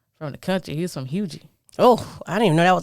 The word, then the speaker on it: Huger: He was from Hugie. Oh, I didn't even know that was a real place until a couple. And I was saying it wrong because it looks like Huger.